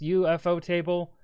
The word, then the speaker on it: ufotable: Let me also say, if you pronounce this as ufotable, you're a dumbass. I do not know what to tell you. These are two English words smushed together, just without a space.